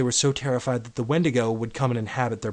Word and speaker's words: Wendigo: The form that I'm referring to is the one that's actually pronounced Wendigo, and that's the inhabiting demon spirit. The other one is pronounced Wendigo, and it's usually used out in the Pacific Northwest for a Bigfoot-type creature that's usually like 50 feet tall.